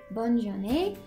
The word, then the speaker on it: bonne journée: This first one is how you're gonna say have a good day, and that's going to be bonne journée.